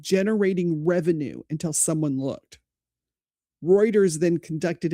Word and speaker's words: Reuters: Then Road Router Routers, is that how you say it? Reuters.